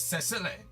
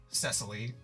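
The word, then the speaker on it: Cecile: Well, I was like, well, I wonder how it is actually pronounced. And it is Cesile. Cesily is a more American way to pronounce it.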